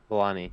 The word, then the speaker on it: Vellani: Vellani. Yeah. Did I get that right? I'm sorry if Yes. I No, you did.